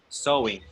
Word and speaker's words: sewing: Yes, but So, sewing.